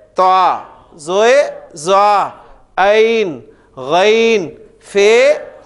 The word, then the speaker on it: ف: फे आएगा तो हम उसको फा बोलेंगे।